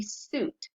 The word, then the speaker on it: suit: So our examples are, you see here that we have suit right here, S-U-I-T, suit. So when you do it, you say suit, and it's one syllable.